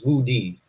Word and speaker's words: Wu Di: I think it's Wu Di from the Han Kingdom. Uh, did I pronounce that right, or did I?